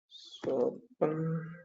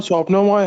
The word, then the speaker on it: स्वप्नमय: नाम ले लेता हूँ, स्वपन, सर वो स्वप्नमय है।